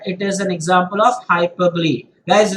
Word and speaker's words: hyperbole: is an example of hyperbole guys remember the pronunciation is hyperbole it's not hyperbole it is hyperbole and what is and